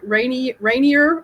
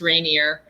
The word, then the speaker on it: Rainier: Rainier, Oregon? Well, it rains here enough that we joke that it should be pronounced rainier, but Rainier, like the mountain in Washington State, although we are on the Oregon side of the river.